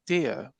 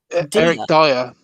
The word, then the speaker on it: Dier: Early sources say Eric Dier could come the other way. And you know what? Eric Dyer. Oh, Dyer. Eric Dyer. I can always call him Dier.